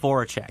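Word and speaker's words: Voráček: Jacob Voracek.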